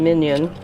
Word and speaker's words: MinION: sequencer the Oxford nanopform minion or min ion actually as they pronounce it and So this